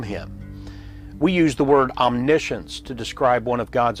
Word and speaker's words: omniscience: So, omni-science is pronounced omniscience, but it simply means all knowledge.